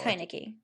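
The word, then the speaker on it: Heinicke: have sometimes double check how does it it's high nicky yeah the only reason i know it is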